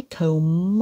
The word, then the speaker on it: comb: the jungle gym đấy, thì cái âm bờ này cũng câm, âm bờ này cũng câm, mình đọc là I comb my hair.